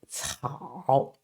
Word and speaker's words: 草: So 草.